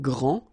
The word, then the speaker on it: grand: here for the masculine gran so you don't pronounce the final d will be exactly the